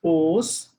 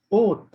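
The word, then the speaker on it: 옷: So this cloth, Yoroban, cloth will not be pronounced as os, it will be pronounced as oath.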